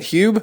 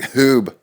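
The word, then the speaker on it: Huub: Hube? Hube. Oh, I thought it was like Hoob. Yeah, Hube.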